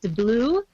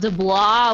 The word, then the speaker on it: DeBlois: It's DeBlue, not DeBlois, whatever I said.